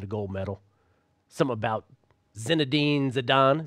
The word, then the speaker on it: Zinedine Zidane: Something about Zinedine Zidane. Is that how you pronounce it, Jorge? You got that right.